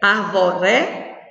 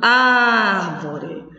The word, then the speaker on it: árvore: Se fosse o ré, arvore. Não, nós não pronunciamos dessa forma. Nós pronunciamos árvore. Então, a sílaba tônica é ar.